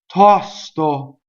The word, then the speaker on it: tosto: Going on, tosto. So open O, right? And then we're always careful with S when we sing that we don't hiss it on the first syllable.